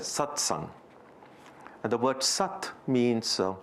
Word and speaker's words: Satsang: But the word is not there as really, it is also a combination of two terms, but in Sanskrit, it's pronounced as Satsang.